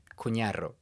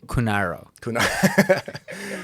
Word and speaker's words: Cunarro: You want the pronunciation in American or in Spanish? Let's start with Spanish. Cunarro. Cunarro. Yeah. That's not bad. No, that's good. Okay, now let's hear the English watered down version.